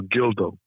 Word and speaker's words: Gildo: This is Gil, short for Gildo. rhymes with my favorite fruit, Dildo.